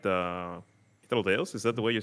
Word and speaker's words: Hythlodaeus: I really like the Hythlodaeus. Is that the way you say his name? Hythlodaeus.